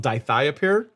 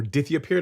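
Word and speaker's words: dithiopyr: Isaac is one that's called diiia pair or dithia pair depending on how you want to pronounce it so I'll show you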